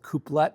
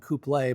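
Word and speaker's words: coupé: I've heard it pronounced both couplet and couple, but since it's a cross between a coupe and a cabriolet, I'll go with the couple.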